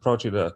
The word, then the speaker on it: Procida: Ischia and Procida, I think you pronounce it Procida.